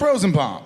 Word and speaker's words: Rosenbaum: It's Michael Rosenbaum. It's too long, so it's Rosenbaum. Yeah. It's Rosenbaum. Yeah. But he got so mad because I But mispronounced do you my think name.